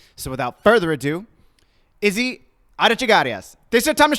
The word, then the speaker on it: Arechiga-Arias: Arechiga-Arias. Arechiga-Arias? There, you got it. Yo, stop playing with me. Arechiga-Arias.